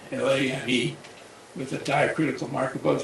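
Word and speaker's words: Lamé: But a French mathematician whose name is Lame, L-A-M-E, with a diacritical mark above the E, I think that changes the pronunciation from lame to Lame.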